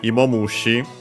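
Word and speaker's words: いもむし: Uh so yeah, Emmoushi uh the accent is on the mo of the emo could be because of it or also as a spot of the accent of compounds.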